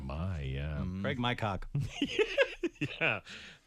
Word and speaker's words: Craig McCock: Wow, it is spelled exactly like you say it. It's Craig almost McCock. almost like my, yeah. Craig McCock.